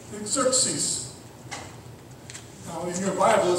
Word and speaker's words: Xerxes: And his name is Xerxes.